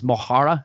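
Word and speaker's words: mo chara: But in Irish, mohara, M-O-C-H-A-R-A, is mohara. And if you actually spell that out, it's like mucker.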